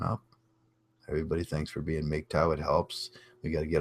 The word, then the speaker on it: MGTOW: out there be aggressive say it like a meek Tao that's all I'm saying say it like a meek Tao dr.